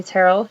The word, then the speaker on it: Terell: is Terell I know it's spelled kind of funky but is pronounced like Carol with a t and you may call me Terell you may call me